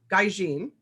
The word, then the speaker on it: Gaijin: today is sarah z sleeper sarah's first novel gaijin did i say it right this time yes